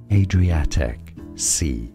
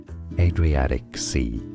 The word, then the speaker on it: Adriatic Sea: Adriatic Sea, that's British English. Adriatic. Stress on the A syllable. Adriatic Sea. Now in American English it's said rather as Adriatic Sea.